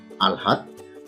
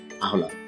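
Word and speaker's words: আহ্লাদ: আসলে এর সঠিক উচ্চারণ হচ্ছে আলহাদ।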